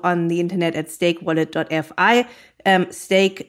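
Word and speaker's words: Steak: Stake is spelled like the meat, so S-T-E-A-K.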